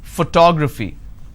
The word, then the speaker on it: photography: at this particular word I pronounce this as as photography how do I pronounce photography and how many syllables do I have here photography four syllables but in this case I stress on the second syllable that is what word